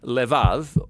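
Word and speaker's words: לבב: We're going to look at the fourth key word in this prayer, heart, which in Hebrew is sometimes pronounced levav, or more often in a shorter form, lev.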